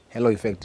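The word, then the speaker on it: halo effect: effect the hello effect hello effect is the the correct pronunciation this is a it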